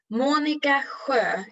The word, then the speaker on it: Monica: please yes of course monica if you say it in swedish you have to rehearse that i think i'm laughing